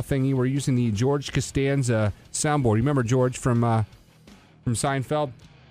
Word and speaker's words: Costanza: do you want George can stand up you purposely mispronounced my name instead of saying Costanza she can't stand yeah hey I'm here